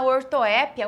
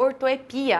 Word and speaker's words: ortoépia: da pronúncia tá aqui nós temos a ortoépia ou ortoepia as duas pronúncias podem acontecer muitas vezes a gente